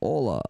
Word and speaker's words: hola: The H is silent in Spanish, so hola.